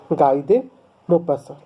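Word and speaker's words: Guy de Maupassant: बाय गाय दे मोपासा जो spelling है उसका प्रोनंसिएशन है गाय दे मोपासा ठीक है शी वाज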